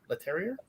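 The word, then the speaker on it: Leterrier: by lewis let's let terrier le terrier that's why i always want to pronounce it it's french for the terrier right uh this was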